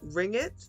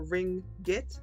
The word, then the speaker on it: ringgit: is three malaysian ringgit is it ring it is that how you pronounce that or ring get is that how how the currency is pronounced oh okay ring get that sounds cool